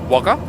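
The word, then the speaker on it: Wagga: can guess um and waga wager is often just abbreviated to wagger um it is spelled w a g g a twice by the way um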